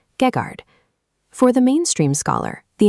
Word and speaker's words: Geghard: Over time, for ease of speech, that terminal N fades out, collapsing into the modern pronunciation Gegard.